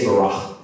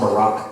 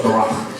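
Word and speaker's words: ברא: Say barach. Not Barack Obama, but barach.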